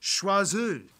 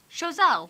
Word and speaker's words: Choiseul: In any case, today most town names and places are named after French words, but have like an anglicized, bastardized pronunciation. Reason being because instead of renaming everything after the French left, they just kind of repronounced everything.